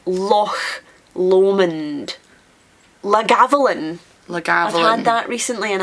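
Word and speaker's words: Loch Lomond: lake L Lake leond there's only one Lake in Scotland and it's not Lake Lon Lake of Min Lake of menth it's Lo lond lalin lagav that recently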